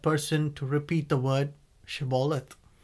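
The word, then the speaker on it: shibboleth: to repeat the word shebollith the aphromites sadly could only pronounce it as sybollat without the sha and whenever anyone said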